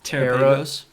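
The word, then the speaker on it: Terapagos: It's Terrapagos. Terra- Terra- Galapagos It's Galapagos with Terra.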